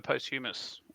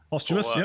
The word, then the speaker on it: posthumously: etc man keep uh we also have a post-humorous award posthumously senator yeah sorry that's the right pronunciation uh the for senator aurelius uh number